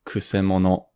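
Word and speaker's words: 曲者: So the pronunciation is kusemono.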